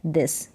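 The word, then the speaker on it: this: फिर है यहाँ पर यह है दिस, क्या है दिस, टी एच को द करके उच्चारण इसका होगा।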